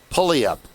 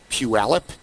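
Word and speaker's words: Puyallup: So Redmond Everett, we kept saying pullup and the guy looks at us and he goes, "Are you trying to say puip?"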